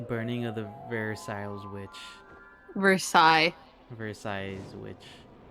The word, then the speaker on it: Versailles: Versailles. Versailles witch. You don't pronounce the last S.